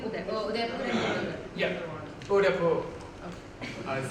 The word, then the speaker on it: Udaipur: Yep, Udaipur.